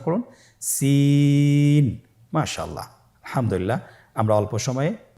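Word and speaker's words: سين: জিহ্বার আগা সামনের নিচের দুই দাঁতের প্যাড ও আগার সঙ্গে লাগিয়ে উচ্চারিত হয়। জায়ের মতোই জায়ের যে মাখরাজ, সিনেরও একই মাখরাজ। আপনারা সিন হরফটি আবার উচ্চারণ করুন, সিন।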